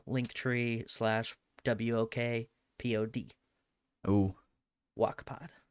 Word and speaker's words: Wokpod: also super easy link tree slash w-o-k-p-o-d oh wak-pod spell it out for the people well that was one of kylie's main complaints and she had no idea it was wakpod that was walkpod it's like why would we have a walk